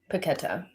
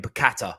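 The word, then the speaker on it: Paquetá: okay he's everyone again i keep saying it wrong did you say it please paquetta ghetto i got my brains this is the way dyslexia does this it keeps saying piccata and i can't help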